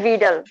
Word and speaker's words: Widal: যদিও ডব্লিউ দিয়ে শুরু, বাট এটা উচ্চারণ হচ্ছে ভিডাল, ডব্লিউটা আসবে না বেশি, ভিটাও বেশি আসবে না, ভিডাল।